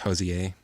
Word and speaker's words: Hozier: whole album is uh with uh your guy Hozier. They got all kinds of guest appear I'm telling you. It's pronounced Hozier.